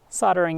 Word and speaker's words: soldering: But that said, soldering is the traditional pronunciation here in Canada and the United States, and so I'm